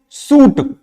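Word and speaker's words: suit: द वड फूट नो साथ ही अगर देखे तो सूट यहां पर भी आई का प्रोनंसिएशन नहीं होता है आई का प्रोशन य पर भी नहीं होता है तो ये कुछ ऐसे पर्टिकुलर वर्ड है जो कि जिसमें आई साइलेंट होता है नेक्स्ट एल के एल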